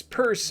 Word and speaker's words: Pierce: Franklin Pierce, who pronounced his surname as Purse, is consistently ranked as one of the worst presidents in American history.